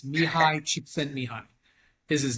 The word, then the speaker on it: Csikszentmihalyi: While if I showed you his name, you wouldn't be able to pronounce it. It's Mihai Csikszentmihalyi is his name.